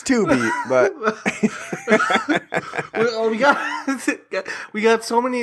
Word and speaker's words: Tubi: Not Voodoo, Tubby, or whatever the hell. I believe it's pronounced Tubi. Oh.